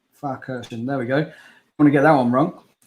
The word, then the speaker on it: Pfarrkirchen: Can you pronounce the track, Andy? Pfarrkirchen. Pfarrkirchen.